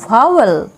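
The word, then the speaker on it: vowel: ভি এর উচ্চারণ হলো ভ, ভি ও ডাব্লিউ ই এল আমরা পড়ব ভাওয়েল, ভাওয়েল, ভি ও ডাব্লিউ ই এল ভাওয়েল। ডাব্লিউ এর উচ্চারণ দেখো অনেক রকম হয়, কখনো ও, কখনো আ, কখনো বয়ের মতো, কখনো ওয়া, কখনো আউ।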